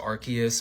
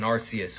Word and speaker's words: Arceus: pronunciation guides like they tell us that it's pronounced archus but you're not taking arus away from me I like arus and you